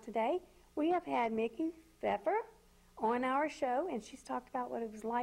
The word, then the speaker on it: Pfeffer: can always email and her last name is pronounced feffer Feer so it is